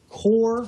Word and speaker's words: QOR: This is a Core, that's spelled with a Q, QOR, a Core 32.